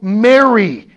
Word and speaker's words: marry: are still able to go marry m a m-a-r-r-y but you know if you were to hear this poem unless you are very strict in your pronunciation and in your hearing you could hear m-e-r-r-y go happy go blithely okay but it's go m-a-r-r-y so use your time